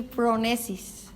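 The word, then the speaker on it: φρόνησις: Inteligencia viene del griego y se pronuncia más o menos así: pronesis, y es el entendimiento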